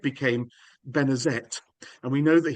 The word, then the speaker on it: Benezet: So, Benezet became Benezet. And we know that he pronounced the T at the end of his name in later life because sometimes he spells